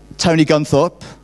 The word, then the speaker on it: Tony Guntharp: I'm now going to introduce you to our keynote speaker, Tony Guntharp. Did I pronounce that right?